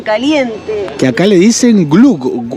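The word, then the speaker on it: gløgg: Glug, yo creo que esta O, que es muy típica del danés, que es la O tachada, se pronuncia más como una U.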